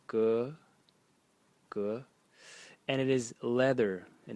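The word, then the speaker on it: 革: Target, and again the phonetic element is on the right side, and the semantic element is on the left side, pronounced ge, and it is leather.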